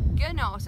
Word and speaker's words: Gnost: band called nos yeah it's gnost it's got a silent g if you want to